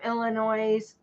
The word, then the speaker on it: Illinois: Well, I'm just saying there's no S in Illinois.